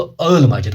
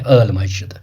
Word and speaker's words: आली मस्जिद: मस्जिद जो है ना, जिसको अर्ल मस्जिद कश्मीरी में इसको प्रोनाउंस करते हैं अर्ल मस्जिद, ठीक है ना।